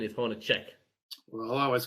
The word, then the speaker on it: Hornacek: So I believe the right pronunciation is Hornacek. Well, I always called him Hornacek like they did there.